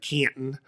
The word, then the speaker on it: Canton: the Pro Football there I even said it right Canton um it's 20 minutes outside of Canton Akron Canton I had to I had to learn to get rid of that a sound when I moved here I haven't I